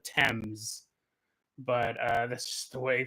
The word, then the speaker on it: Thames: I called it the Times, and because I knew it wasn't pronounced Thames, and then when I was editing, I looked it up. It's called the Thames, but that's just the way things go.